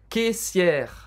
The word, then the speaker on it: caissière: Mère, caissière, a mesma coisa. Mère, caissière. E observe que o E no final não é pronunciado. A gente termina a pronúncia no R.